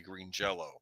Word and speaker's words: Green Jelly: by the band I I know it's spelled green jelly but I think it's their their name is actually Green Jello which was kind of